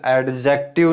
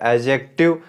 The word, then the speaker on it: adjective: इसका pronunciation एडजेक्टिव नहीं होता, इसका रियल प्रोनाउंसिएशन होता है एडजेक्टिव, डी जाता है साइलेंट।